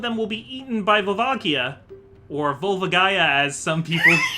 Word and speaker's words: Volvagia: Because, like, I say Volvagia, you say Volvagia. A very, very good and flaming friend of ours says Volvagaya, which I'm just gonna say right now, it's not the correct pronunciation.